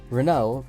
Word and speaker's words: Renault: near future but either way here's the basics Renault which is pronounced like this is a French car company